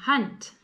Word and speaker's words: hand: Hunt. It's your hand. Spelt the same but sounds different. Hunt.